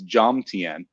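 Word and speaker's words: Jomtien: i said i so i've heard that like john tan is not joan t and it's jam tian so i'm trying to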